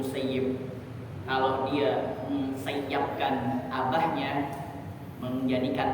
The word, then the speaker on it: Musayyib: Makanya ulama-ulama hadis ini mereka boleh dua, musayyab atau musayyib. Tapi daripada dapat doa dari Sa'id bin Musayyib, kalau dia mensayyabkan abahnya, menjadikan tawanan atau mentelantarkan ayahnya, maka dia akan ditelantarkan oleh Allah.